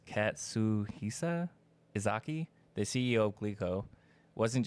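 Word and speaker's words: Katsuhisa Ezaki: So, Katsushi, I can't say his name, it's Katsuhisa Izaki, the CEO of Glico, wasn't just a businessman.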